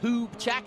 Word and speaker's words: Hubchak: Evan Hubchak, is that the right pronunciation?